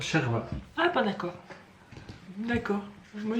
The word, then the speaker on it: chorba: shorba. Non, avec l'accent, moi, la personne elle m'a dit ça se prononce sherba.